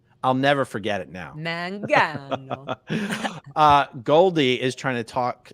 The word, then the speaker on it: Mangano: It's man, like you're a man, then gan, like man, and then G, and then O. So Mangano.